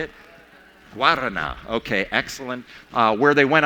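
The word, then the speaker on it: Guaraná: Guarana.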